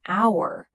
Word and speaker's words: hour: That's why we say an hour, because the H is silent.